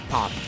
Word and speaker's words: PAC: It's pronounced Park.